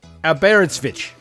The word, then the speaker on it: Aberystwyth: Aberystwyth. Aberystwyth. Oh, not far. Aberystwyth. Aberystwyth. It's called Aberystwyth. So it's just like it's spelled.